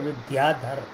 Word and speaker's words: विद्याधर: ये अंग्रेजी में इनका नाम जो लिखा जाता है उसका उच्चारण होता है विद्याधर।